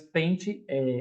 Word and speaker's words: pente: Então, por que eu falo pente, mas pente, a pronúncia é com I, mas a escrita é com E?